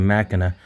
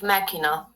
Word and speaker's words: macchina: All right, so if I'm not changing Macana, then I would think nothing would change because you No, no, said. no. Don't change the first A because you are reading it machina.